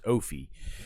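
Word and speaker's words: Ophie: But yeah, his name is his it's but it's it's spelled O P H I E. So you read it as Oie.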